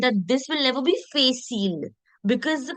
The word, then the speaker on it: facile: Understand that this will never be facile because the pronunciation of the alphabet A is A. So when I put F and R together, that's facile.